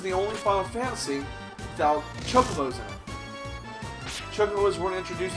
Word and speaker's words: Chocobo: They're not Chocobos, they're Chocobos. I know it's spelled C-H-O-C like chocolate. No, goddamn, it's Chocobo. Waka says so. So hold your Chocobos.